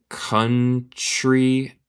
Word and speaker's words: country: Pero yo tendré que preguntarles what the name of the country is. Nota mi pronunciación. El T suena más como CH.